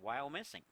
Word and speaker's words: Wyomissing: Wyomissing Pennsylvania Cabrini University I don't think I'm pronouncing that Wyomissing doesn't sound quite right if anybody knows how to pronounce it send me a correct pronunciation that hook bats and I am told from the truck that it is correct while missing that was quick I'm